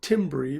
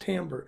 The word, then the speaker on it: timbre: it's spelled t IM bre it looks like Tim berry but it's actually pronounced Tambor the timbre that instrument is made up of